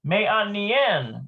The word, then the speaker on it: מעניין: Me'a niyain. Looks like me'a niyain. I think that might be the excellent one. Let's see. Me'a niyain. Interesting. מעניין. Me'anien. That's how you say it.